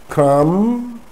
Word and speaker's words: crumb: Crumb, not crumb.